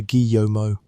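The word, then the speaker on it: Guillaumot: The man chosen to lead this work was an architect named Charles Axel Guiomo. We will say his name softly, the way the French would, something close to Guyomo.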